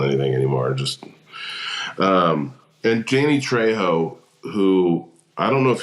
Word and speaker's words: Trejo: His name's Danny Trejo, and his character's name is Trejo in this. Okay, I thought it was Trujillo.